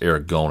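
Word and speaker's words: ergon: works or bad works Aragon actually pronounce Eric gone it's a long o uh it actually as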